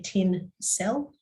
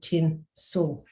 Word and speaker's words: tinsel: and ah yeah yep tinsel we don't say 10 cell we say tin so that oh that glossy bit where you just go straight across the vowel in the syllable and you don't you don't stress the vowel that's there that's the schwa so we also teach